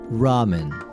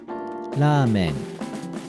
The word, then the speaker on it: ramen: in the most similar way to Japanese original pronunciation ramen ramen ramen ramen the only difference is articulation first